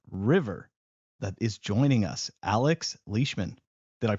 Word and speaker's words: Alex Leishman: the CEO of river that is joining us Alex leishman did I pronounce that correctly Alex you did yay thank